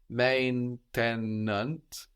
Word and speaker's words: maintenant: Now in French is maintenant or maintenant. So you can hear both. You can hear that E in the middle of maintenant getting totally disappeared, like in maintenant.